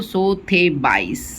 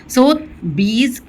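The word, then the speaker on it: Sotheby's: तो सोथबाइज, जो भी इसका प्रोनाउंसिएशन है। सोथबीज इन अवशेषों की नीलामी कहाँ करने वाली थी?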